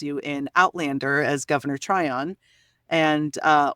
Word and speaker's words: Tryon: in Outlander as Governor Tron and uh or as I sometimes mistakenly pronounce it Governor tyan out outrageous you'd be